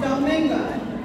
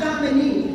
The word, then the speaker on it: Domingo: all right my name is Domingo not Dominique with and after fine